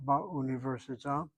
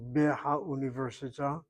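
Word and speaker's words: באוניברסיטה: or in the university, the bet comes along, strikes out the hay, takes over its vowel, ba università. Don't make the error by saying be ha università. The bet strikes out that hay.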